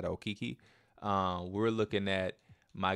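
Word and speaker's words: Okeke: the proper way to say it it said oiki um we're looking at my guy um Usman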